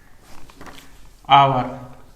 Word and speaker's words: hour: अब इसको देखिए कैसे एन लगेगा, आवर, HOUR, तो हम लोग इसको पढ़ते हैं एन आवर, क्योंकि एच का उच्चारण जो है अ होता है, ह का ह नहीं होकर अ होता है, इसीलिए जो स्वर होने के कारण से हम लोग एन आवर पढ़ते हैं।